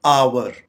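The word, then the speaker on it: hour: pronounce किया जाता है इसकी करेक्ट प्रोनंसिएशन है आवर आवर आमतौर पर इसे आर बोला जाता है जो कि गलत प्रोनंसिएशन है आवर यानी घंटा आवर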